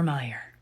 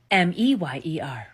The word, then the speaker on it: Mayer: My baloney has a second name, it's M-E-Y-E-R. M-E-Y-E-R, right? Meyer. No, nope. Apparently it's spelled M-A-Y-E-R. Wouldn't that make it Mayer? Like May, M-A-Y, Mayer. What the fuck? Go check your bologna and your hot dogs. It's not M-E-Y-E-R. It's M-A-Y-E-R. Why have we been calling it